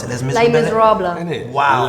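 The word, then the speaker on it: Les Misérables: So you appeared in the West End productions such as how do you pronounce it? Les Les Miserables. Innit? Wow. Lay.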